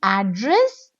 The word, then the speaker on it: address: content is an adjective address first syllable I'm stretching address it's a noun address means addressing something